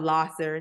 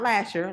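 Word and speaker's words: Lahser: And my dad stayed like off of Losser, not Lasher, Losser. And People say it wrong.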